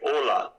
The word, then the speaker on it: hola: to English hola hello but you spell h h o l a but you do not say the H so you say olaa but the spelling is h o l a oh so it's silent h okay yes uh I